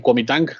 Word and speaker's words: Kuomintang: Recuerden que la G se pronuncia como K, y la G al final se deja igual. Entonces el Kuomintang, sí, o GMD, va